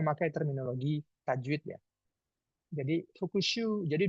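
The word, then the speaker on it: 復習: Jadi bacanya fukushu, bukan fukushu ya.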